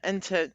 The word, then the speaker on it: Entenwirth: I have been talking with Verena Entenwirth, and so I'm going to say it the actual correct pronunciation, Entenwirth.